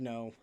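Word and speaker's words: Nō: it I'll tell you it's a long o so it is how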